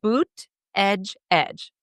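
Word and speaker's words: Buttigieg: Did you Did you ever see the sign people made to like explain how to pronounce his name? No. Um, yeah. It said boot edge edge.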